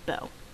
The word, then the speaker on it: Beau: That is not Boo, that is Beau. That is French, and it is pronounced Beau.